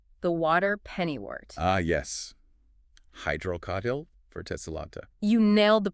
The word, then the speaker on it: Hydrocotyle verticillata: Hydrocotyle verticillata. You nailed the pronunciation.